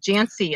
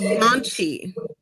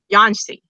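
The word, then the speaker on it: Jancsi: And their son, whose name I'll probably mispronounce, is it Jancy, is how I was. I found out how to say it. It's Yanchi. Yanchi. Okay. I looked up a Hungarian pronunciation guide.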